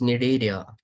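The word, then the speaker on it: Cnidaria: And you are saying that I can't spell it. How it is possible? You are a BPC Sir, student. it's Nidaria.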